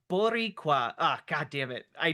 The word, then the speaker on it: Boricua: Uh 10, pronounced Boricua. Uh god damn it. I didn't read the comment. No. Pronounced Boricua. Uh roll the R at team C bet.